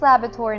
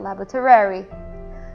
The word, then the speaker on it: laboratory: and laboratory and yep it's laboratory not laboratary no we're not making